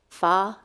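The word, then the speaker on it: Pho: and Live Oak um I understand that in Vietnamese um pH is pronounced fa and so there's a restaurant there called I'm going to say it slowly so I don't swear fa King good um they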